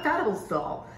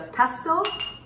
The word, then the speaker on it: pestle: So this right here is not a pedestal. It's a pestle and a mortar.